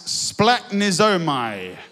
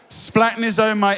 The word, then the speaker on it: splagchnizomai: In verse 13, where it says Jesus was broken, it's this Greek word which we love trying to pronounce, splagchnizomai.